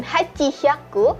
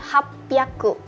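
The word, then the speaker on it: 八百: Jadi bukan hachi hyaku tetapi hapyaku.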